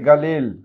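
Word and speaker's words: قليل: বিশেষ করে আরবিরা গয়ের উচ্চারণ না করে তারা গয়ের উচ্চারণ করে থাকে। তো এই ক্ষেত্রে কালিল না বলে তারা বলে থাকে গালিল, অর্থ হচ্ছে অল্প বা সামান্য।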